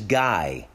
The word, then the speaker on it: Guy: The guy's name, his first name is Guy, G-U-Y. In French is pronounced Guy.